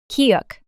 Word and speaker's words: 키읔: 치읓, 치읓, 치읓, 치읓, 치읓, kieuk, The name of this consonant is kieuk. Kieuk is the same k sound you make when you pronounce ki.